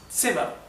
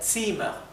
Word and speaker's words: Zimmer: Entonces, la doble consonante como Zimmer indica que la vocal anterior se pronuncia bien corta. Como verán, la I es bien cortita, la pronunciación es Zimmer. Si fuera una M sola sería Zimmer, sería un poco más largo.